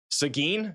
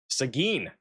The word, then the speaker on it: Seguin: Seguin? Is it Seguin? Seguin, Texas? I thought it was Seguin. Seguin. Seguin, Texas. We've covered this area quite a bit. I didn't even know that was the pronunciation.